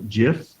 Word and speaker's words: GIF: which you can also download it as a gif or GIF depends how you say it a PNG file jpeg